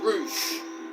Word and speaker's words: Rush: find confusing about it it's spell rush but they say his name is roou I don't know if